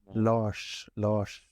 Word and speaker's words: Lars: I think in Sweden it's pronounced like Lars, right? Lars. Wait. It's a bit strange sound. If you put it very slowly, Lars. Yeah, it's a little strange R sound, and then it's.